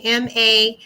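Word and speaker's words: Mainvest: my campaign it's called maine fest so maine m-a-i-n-v-e-s-t almost kind of like may investment or invest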